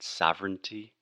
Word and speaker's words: sovereign: So, for example, foreign or foreigner, que seria estrangeiro, or sovereign and sovereignty. We just do not pay attention to the crazy writing and just think this is sovereign, earn, foreign, okay?